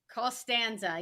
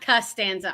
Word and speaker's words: Costanza: Costanza. Yes, it's not Costanza. I should have pronounced it better.